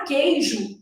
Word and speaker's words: queijo: depois fragmentando os conteúdos na palavra queijo o u não é pronunciado Então olha como é